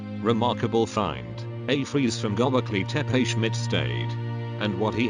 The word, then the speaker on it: Göbekli Tepe: And so, in late 1994, archaeologist Klaus Schmid came to the site of Göbekli Tepe, pronounced Göbekli Tepe, to begin his excavations.